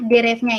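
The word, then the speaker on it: деревня: Jerevnya itu artinya pedesaan.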